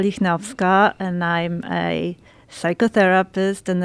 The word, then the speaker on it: Lichnowska: And how do you pronounce it? Lichnowska.